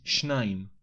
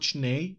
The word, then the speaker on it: שניים: In this case, we say שניים, not shnei as in construct state.